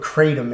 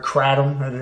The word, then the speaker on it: kratom: sorry if nobody knows what kratom is or kratom however you want to pronounce it it's spelled kr8